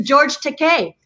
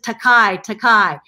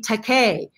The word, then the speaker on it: George Takei: It's George Takei. George Takei's name is pronounced so commonly. Everybody says Takai, until he came up with, it's okay to be Takei.